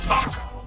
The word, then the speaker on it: TAKOS: I call it the Tentacle Arm Craggle Outside Sprayer, or Taco. The S is silent.